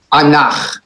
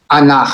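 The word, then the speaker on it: אנך: It's still the ah sound, the patach, but we just are reminded to accent the second syllable. So it's anach. Together, everybody, anach.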